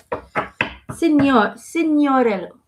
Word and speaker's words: Signorello: Signoriello. Am I saying that right? Signoriello. I might saying it wrong. That's how Eric is saying it in my head. Signoriello. Signorello. What? Hold on. Signorello. Perfect. Okay.